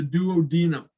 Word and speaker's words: duodenum: The first section is called the duodenum. Some people pronounce it the duodenum.